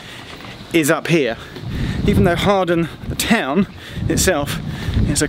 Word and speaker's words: Hawarden: But Harden Bridge, Harden, must pronounce that right, request stop, is up here. Even though Harden, the town itself, is a couple of stops back that way.